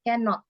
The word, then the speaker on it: cannot: atau kan sama ya Jadi kalau cannot itu cara membacanya itu bukan dipisah bukan dipisah menjadi dua suku kata tapi harus jadi satu suku kata cannot jadi tidak bisa ditulis seperti ini ya can not ini salah Jadi bukan dipisah tapi